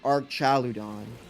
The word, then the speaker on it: Archaludon: And I think that I would argue archaludon because it's about a bridge and a bridge includes arches.